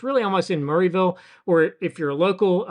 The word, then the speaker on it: Murrayville: It's it's really almost in Murrayville or if you're local a Murville. Uh if you're not local, just remove like four random letters from Murrayville and that's how you pronounce it.